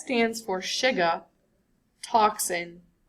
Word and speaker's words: Shiga: It's spelled SCHIGA. Shiga.